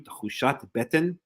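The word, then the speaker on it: תחושת בטן: So talking about Tchushat Beten, talking about gut feeling, and that's how you say it in modern Hebrew, Tchushat Beten.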